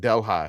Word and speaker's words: Delhi: Uh, I It looks like it's spelled like Delhi, like New Delhi, but you in Louisiana, you call it Delhigh.